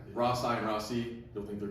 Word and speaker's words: Rossi: that we kind of told everybody it's Rossi. This is the pronunciation we're going to go with. Yeah. Now, go to Middletown. No one's going to pronounce it like that, right? Rosai and Rossi.